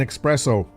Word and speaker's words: espresso: in this she says there's no X in espresso no gym yeah so